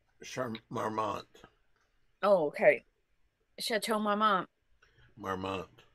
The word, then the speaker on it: Marmont: Marmmont. The NT is silent. Marmmont. French. But it's pronounced Marmmont.